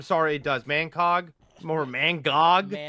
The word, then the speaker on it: Mangog: Oh, Mangco. Yeah, Mangog.